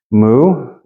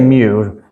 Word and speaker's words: mu: so no secret there moo exactly the same except for when you write it out it's like a as a friend of mine said years ago funky you with a tail so it says moo moo yeah you can say Mew a lot of Greek Scholars will say Mew due to older forms of English pronunciation huh so wait a